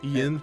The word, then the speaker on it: Ian: That's pronounced like N.